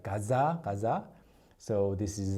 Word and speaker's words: 가즈아: If you actually pronounce it like that, 가즈아, it's not the same thing that people imagine. So you have to say it like 가자.